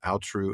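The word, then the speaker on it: Aotrou: recently the story of Kulervo and the lay of I I still think I'm going to mispronounce this every time but I think I manage it alru and atrun you did it right yay always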